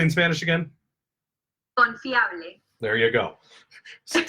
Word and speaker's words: Confiable: Confiable.